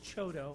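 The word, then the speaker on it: CHDO: stapled hand out for you pronounce chotto so if you ever hear the word chotto any of the city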